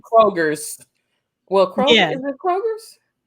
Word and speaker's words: Kroger: So we pronounce everything except for like Kroger's. Well, Kroger, is it Kroger's? Meyer? Yeah, we put an S. We love to put S's on, like it's Costco's.